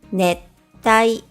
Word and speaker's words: ねったい: And netai means I want to sleep, while nettai means tropical zone.Now, let's practice reading words with double consonants.